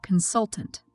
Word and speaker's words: consultant: the syllable for example take note of the word consultant the first syllable is red lighter while the second part is Red stronger these are examples of word stress that help you pronounce